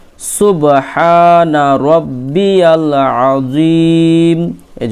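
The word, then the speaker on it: عظيم: জি মিম জের মি আজিমি এখানে খুব সাবধান জ এর উচ্চারণ করতে হবে এখানে জিমের উচ্চারণ হলে ভুল হয়ে যাবে জালের উচ্চারণ হলে ভুল হবে এখানে জ এর উচ্চারণ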